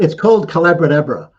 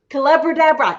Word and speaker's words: Collaboradabra: It's called Collaboradabra. Collaboradabra, and it's the magic. It's called Collaboradabra. It rhymes with abracadabra because I was teaching collaboration.